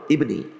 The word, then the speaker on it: ibni: Jangan baca ibnu lah, ibni.